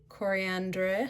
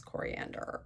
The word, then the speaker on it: Coriandre: Next I have coriandre. I think it's coriander but it's spelled d r e at the end.